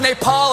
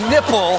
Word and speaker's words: Nepal: Trump referred to Bhutan as button and mispronounced Nepal as nipple.